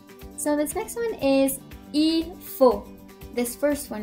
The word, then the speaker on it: il faut: So this next one is, il faut.